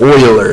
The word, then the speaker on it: Euler: argument or syllogism and this is pronounced not your but euler an euler diagram what